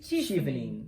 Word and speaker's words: Chevening: Padahal dia cara pronounce-nya itu dari C sama H itu Jadi C kan, Chef. C dan evening. Jadi chevening gitu. Chevening. Jadi bukan dari chef ya, tapi dari CH dan evening.